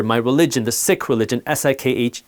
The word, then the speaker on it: Sikh: In my culture, my religion, the Sikh religion, S-I-K-H, yes, it's pronounced Sikh, not Sikh, there's a fundamental tenet, a concept called seva, which means selfless service.